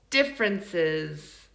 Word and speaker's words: differences: Differences. Okay, they should be both the second and the third syllable.